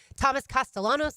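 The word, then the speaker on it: Thomas Castellanos: it learn it Robert Salah that's how you pronounce his name Thomas castalanos like we've talked about that's how you pronounce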